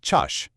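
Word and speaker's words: ճաշ: For lunch, the word is chash, which you say like chash.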